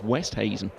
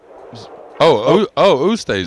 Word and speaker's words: Oosthuizen: It is Westhuizen. I'd have to see the spelling, and I'm not so sure of the golfer, but Louis West, well... Oosthuizen. Yeah, but it's not apparently. That's what everyone was getting it wrong. Okay. So we said to him, well, how do you say it? So it's like with a W? Yeah.